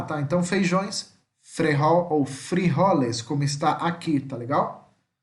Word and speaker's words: frijoles: Então, feijões, frejol ou frijoles, como está aqui, tá legal? Beleza? Lembrando que a letra J, tá? Que é o J, tem som de R em espanhol.